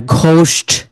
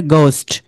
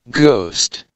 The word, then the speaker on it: ghost: ঘোস্ট, মানে ভূত, কিন্তু তারা কি বলবে? গোস্ট, মানে এইচ এর প্রনাউন্স হবে না।